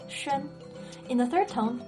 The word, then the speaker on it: 宣: Next, xi plus yu plus an makes 宣.